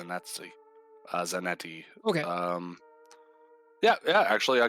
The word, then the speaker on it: Zanetti: I want to say Zanetti.